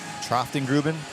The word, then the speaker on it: Troftengruben: Troftengruben. There you go. I spoke to the coach before the game, and it sounds just like it's spelled. So.